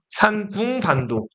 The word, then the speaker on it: 산둥반도: 산동, 중국어로 쓰면 산둥이라고 읽습니다. 산둥반도.